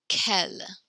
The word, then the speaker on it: quel: Now these are all pronounced the exact same. Quel, quel, quel, quel. You just know which one we're talking about based on the context.